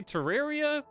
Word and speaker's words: Terraria: I would say Terraria, Fallout New Vegas, and what are some other games we did?